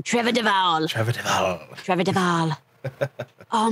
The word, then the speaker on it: Duvall: Trevor Duvall.